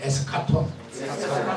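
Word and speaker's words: ἔσχατον: 에스카톤. 여러분 헬라 안 하지만 오늘 헬라 하나 배웁시다. 다 같이 해보세요. 에스카톤.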